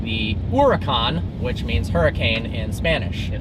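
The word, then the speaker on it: Huracán: sound that c but some people even call it the Huracan in the factory so I just call it the Huracan but it is not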